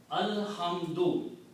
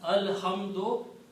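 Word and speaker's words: الحمد: If I stop here, then I will pronounce alhamd. But if there are other words after that, then I will continue pronouncing as alhamdu.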